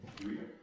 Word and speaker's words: Duino: Well, the first elegy and the one that I pronounced with the D, the Duino, have you said? Duino.